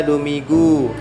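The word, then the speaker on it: Domingo: sekalian pahami juga ya seperti demo go demo go ya bacanya duminggu Ya kemudian dialihkan menjadi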